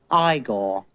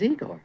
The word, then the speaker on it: Igor: his interpretation of Igor now it's pronounced Igor but they told me it was Igor well they were wrong then weren't they for